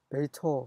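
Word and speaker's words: בֵּיתוֹ: 그래서 베이토 그 대신 홀란 vav라 해서 오 발음이 납니다.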